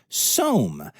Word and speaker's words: SOM: Cheyenne Mountain Zoo did send their tree roo to Denver, but they have gotten SOM, spelled S-O-M, but it rhymes with Rome.